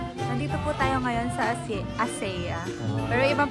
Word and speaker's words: ACEA: Dito po tayo ngayon sa ASEA. Pero ibang pronunciation nila, ASEA.